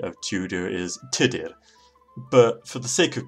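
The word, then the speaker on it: Tudur: risk tutor quick now here the proper Welsh pronunciation of tutor is today but for the sake of convenience I will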